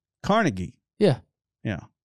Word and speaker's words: Carnegie: Carnegie yeah yeah yeah I pronounce it carnegi oh yeah that didn't go well that did not go well well I feel like that's like the LinkedIn pronouncing I'm a sea of carnegi Steel well it's actually how the Scots pronounce it ah well that makes